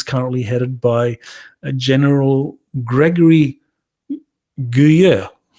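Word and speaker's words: Guillot: headed by General Gregory guer I think I got the pronunciation I'm closer to the correct pronunciation General Gregory guya okay so I'm sure I'll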